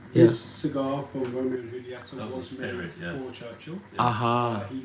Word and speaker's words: Julieta: Is it a silent J? So it's pronounced more like a H.